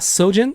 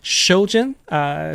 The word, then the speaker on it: Xojin: what it's like with sojin so actually it's not sojin it's shojin because the X is not pronounced with an S it's more like an s h sound and so I just